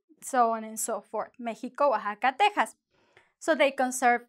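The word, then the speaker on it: México: Don't forget, in the past, many years ago, the X used to be pronounced as sh. So it would be like Mexico, right?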